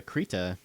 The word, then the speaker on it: Krita: Oh, Krita is spelled Krita. Like creatine.